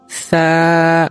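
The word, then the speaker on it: ث: আরবি চতুর্থ হরফের নাম সা। এই হরফটি উচ্চারণ করতে আমার অনেকেই ভুল করে থাকে, যেমন আমরা সা এরকম না বলে আমরা বলি সা সা, এরকম উচ্চারণ একেবারেই ভুল।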